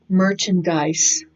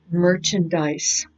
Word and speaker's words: merchandise: it online next one merchandise merchandise or merchandise some both pronunciations are quite common it can be merchandise or merchandise but I I'm trying